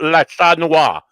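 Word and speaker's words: Le Chat Noir: Please welcome to the show, Sarah of La Chat Noir Tarot. Oh, you said it right.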